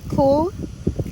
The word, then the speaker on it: Xool: The Xool, I believe it's Xool the name. Yeah, it's spelled cool, but with an X.